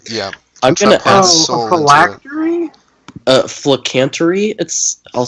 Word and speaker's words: phylactery: A phylactery? Flicantry. I'll spell it for you. Phylactery. Phylactery. It's very hard to pronounce. It's factory, but with full in front of it. But it's PHYL.